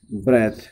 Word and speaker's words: breath: अगर THE है it will be pronounce ब्रीद. This is verb and there is, if there is नो E after H U will pronounce is ब्रेथ. It will become a noun.